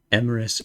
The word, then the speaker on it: Emeris: Emeris Rhymes. God, their name is long. Hold on. Let me just copy it. Oh. They're still starting stream currently. There we go. Emeris rhymes with abyss.